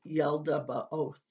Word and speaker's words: Yaldabaoth: to vary depending on the translator but it's pronounced yeldaba oath number seven are the archons these are demonic spirits that were created by yaldabaoth and other names for them are powers or